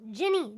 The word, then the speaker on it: Jenny: it yes no not no no no no jenny like the alcohol at the end yeah whatever you say